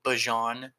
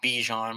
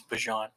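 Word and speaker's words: Bijan: If you did not see that's the correct way to pronounce his name, it's Bjon, not Bjon, which I've been doing as well, but no one's ever corrected anybody.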